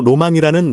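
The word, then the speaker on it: 浪漫: 발음 낭만이 된 것이다 즉 한자로 낭만이라 쓰고 우리나라에서는이를 낭만으로 있지만 일본식 발음은 로망이 된다 이야기가 너무 옆길로 빠졌던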